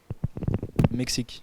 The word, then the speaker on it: Mexique: Mexique.